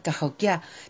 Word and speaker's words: Cahokia: Incluso recordé que al pronunciar Cahokia tenía que poner el énfasis en la tercera sílaba en lugar de la segunda, que es como lo pronuncian los blancos.